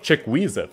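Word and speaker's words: Chukwueze: side this time around with the likes of chickweezit that's how you pronounce it from villarreal obviously the winger without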